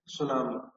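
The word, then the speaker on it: tsunami: होती है वो ट सुनामी टी एस यू एन ए एम आई जिसमें टी साइलेंट ता है सुनामी the instrument use टू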